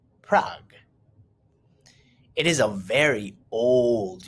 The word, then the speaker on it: Prague: the capital of the czech republic is prague pronounced prague it is a very old european city there